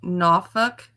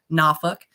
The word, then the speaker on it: Norfolk: They pronounce it Norfolk.